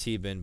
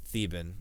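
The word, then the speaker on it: Theeban: whatever uh clarified that 14 name is not pronounced tban but theben all right well I've heard that 30,000 times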